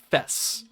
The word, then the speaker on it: FES: who wrote the lyrics you pronounced it like the first half of Festival supposedly her real name wasn't no okay so it is pronounced fess okay got it I